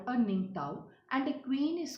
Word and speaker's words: Ningthou: isn't it isn't it children who will be ning tao so ningtaw means king and lima is queen and there